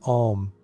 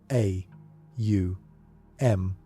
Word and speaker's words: Om: Upanishad, treats the syllable Om as the primordial sound from which the universe emerged. The Mandukya describes Om as containing within itself the totality of existence, with its 3 component sounds, A, U, M, corresponding to the 3